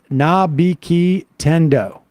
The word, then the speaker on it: Nabiki Tendo: For Sam, it's pronounced Nabiki Tendo.